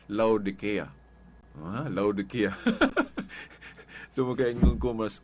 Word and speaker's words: Laodicea: Mo na nga ang council nga Katoliko katubang dogmatic declaration of transfer sa Council of Laodicea.